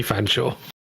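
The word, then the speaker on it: Featherstonehaugh: Oh, Featherstone Hay or something, isn't it? yeah. Absolutely crazy. Apparently Fanshawe.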